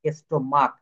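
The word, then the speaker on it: stomach: কিন্তু এখানে এখানে দেখেন স্টোমাক এখানে শেষের উচ্চারণ হয়ে যাবে ক এই ক এর মত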